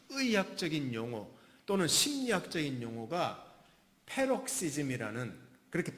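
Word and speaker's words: paroxysm: 이 뜻이 뭐냐면 굉장히 좀 독특한 단어인데, 여기서 파생된 영어 단어, 의학적인 용어, 또는 심리학적인 용어가 페록시즘이라는, 그렇게 발음합니다.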